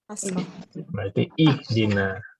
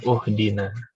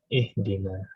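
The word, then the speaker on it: اهدنا: Kita lihat harokat ke huruf ketiganya adalah kasroh, berarti ihdina, bukan uhdina, tapi ihdina.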